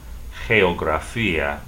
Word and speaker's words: geografía: The word geography, once again, G followed by E, is pronounced H. Say, geografía, geografía.